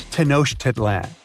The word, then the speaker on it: Tenochtitlan: It's Tenochtitlan. And Mayan cities are hard to pronounce, too.